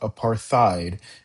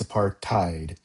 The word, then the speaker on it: apartheid: First word is apartheid. Be careful about the pronunciation of this word. It's not apartheid, it's apartheid.